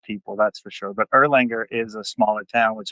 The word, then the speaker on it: Erlanger: Is this in Erlin- Erlinger? How do you pronounce it? Erlanger, yeah. Erlanger.